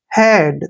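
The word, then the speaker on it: head: होता है मरा हुआ देखिए एच का उच्चारण है हो गया ई ए का उच्चारण ए की मात्रा हुई और डी को ड पढ़ेंगे हेड देखिए हेड हेड मींस सिर कभी ऐसे नहीं पढ़ते ब्रीड डिड ऐसे नहीं पढ़ना इनको हेड हेड मीन सिर देखिए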